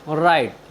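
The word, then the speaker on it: write: आर आई टी ई राइट राइट means होता है लिखना साथियों यहां पर भी वर्ड के शुरू में डब्लू और आर एक साथ आए हैं इसलिए हमने डब्लू का उच्चारण नहीं किया है साथियों चलते हैं अपनी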